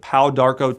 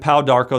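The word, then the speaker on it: Pau d'Arco: in a tea form drinking three glasses of pow Darko tea a day and pal Darko that's spelled p-a-u space Darko d-a-r-c-o pow Darko T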